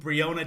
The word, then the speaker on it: Breonna: Okay, so it is pronounced Breonna.